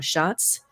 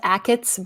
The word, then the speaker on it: Achatz: I'm not sure how to say his name. Schatz. It's actually pronounced Achatz, but yeah.